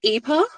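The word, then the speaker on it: Ypres: Once again, I'm going to say Woods of Eer now that I know that's how it's pronounced.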